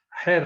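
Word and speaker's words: Xeer: system is the hair x in somalia is pronounced as hair system hair is customary it's traditional hair can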